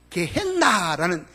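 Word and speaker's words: γέεννα: 그런데 우리 성경에는 이게 지옥이라고 이렇게 적혀져 있는데, 여러분, 이게 원어 헬라어에 보면은요, 이 말이 게헨나라는 이렇게 되어요. 지옥이란 말이 게헨나로 헬라 원본에는 그렇게 적혀져 있어요. 이 게헨나 헬라식 발음인데, 여기서 말하는 이 게헨나라는 단어가 있는 거 보면은 이거는 실제적인 장소를 의미합니다.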